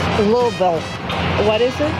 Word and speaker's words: Louisville: And as for the city that nobody can pronounce, I pronounce it Louisville. It's a little different, yeah. Sorry. That's not right. It's Louisville. What is it? Louisville.